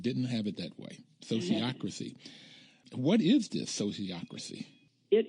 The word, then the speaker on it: sociocracy: thank you and I also need you to pronounce s o c i o c r a c y sociocracy sociocracy okay that's it you got itcy